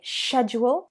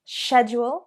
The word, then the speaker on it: schedule: You can say schedule, schedule. What's on your schedule for today? Or schedule, schedule. What's on your schedule today? Schedule is the British pronunciation, but schedule is the American pronunciation.